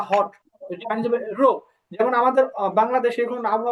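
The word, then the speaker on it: 热: রো, যেমন আমাদের বাংলাদেশে এখন আবহাওয়া অনেক গরম না, তো এটা হবে রো। রো, হ্যাঁ, রো। রো, রো, হ্যাঁ, একবার রো, ফলিং টোনে রো।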